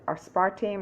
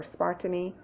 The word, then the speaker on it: aspartame: you are taking or you are using asparta aspartame or aspartamy depending on the pronunciation if you're using that as an artificial